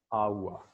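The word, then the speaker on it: hour: Okay, so it is H-O-U-R. Okay, we pronounce it, okay, awa. How do we pronounce it? Awa, awa, awa.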